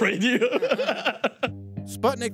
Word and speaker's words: Sputnik: But you will hear the Russian pronunciation of that famous satellite about 15 times a day.